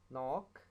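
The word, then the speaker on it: knock: K will become silent before N. N अगर K से पहले आए तो K साइलेंट हो जाता है, जैसे नाइफ, नो, नॉक, निट, नी।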